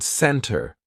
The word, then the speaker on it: center: I love how it illustrates the T that is not pronounced, or like the word center, right? It sounds like there is no T at all.